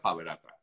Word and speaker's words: PABerater: Ahí tienen la cuenta de Instagram que está allí escrita, arroba Paverater, digamos, pronuncia Paverata. En español, con piso al final, sí. O sea, con el guión bajo al final, pero se pronuncia Paverata, algo así.